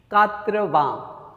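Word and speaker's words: quatre-vingts: How do you pronounce? कात्रवां, कात्रवां.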